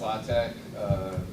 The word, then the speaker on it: LaTeX: And I don't say right, LaTeX, is it how you say it, or Latex? I mean, I say LaTeX Yeah, and Latex.